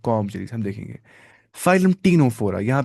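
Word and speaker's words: Ctenophora: Jerry's हम देखेंगे phylum टीनोफोरा यहां पे सी क्या है साइलेंट टीनो ये टीनोफोरा नहीं पढ़ना है टीनोफोरा पढ़ना है क्या पढ़ना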